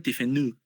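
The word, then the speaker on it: Tiffeneau: Se escribe tifenado, pero se pronuncia tifenú, ¿no?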